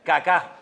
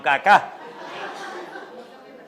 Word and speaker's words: Kaká: Había un jugador que se llamaba, menos mal que tenía el acento en al final Kaká. Kaká, no caca, sino Kacá.